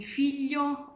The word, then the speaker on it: figlio: Now the point is how to pronounce this l, how to put your mouth for pronouncing it correctly. So you have to put the tip of your tongue behind your teeth in the bottom of the mouth, so here, and then the dorsum of your tongue must touch the top of the palate.